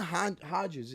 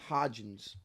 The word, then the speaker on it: Hodgins: hype now like he Isaiah Hodges he he's he's how do you say his name Hodgins Hodgins yeah h-o-d-g yeah okay and where